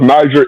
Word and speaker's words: Niger: Niger is a African country from and it's pronounced Niger even in the African language and in the Hebrew language.